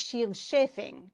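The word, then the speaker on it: Scyld Scefing: the Old English, oft Shield Shafing is how they do it. Okay, shield is spelled differently, obviously, than the way we spelled shield, but the SC doesn't sound the way it does for us.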